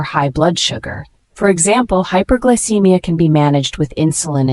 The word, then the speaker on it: hypoglycemia: if not managed properly the word hypoglycemia spelled h y p o g l y c e m i a is a noun it is pronounced hypoglycemia this word means low blood sugar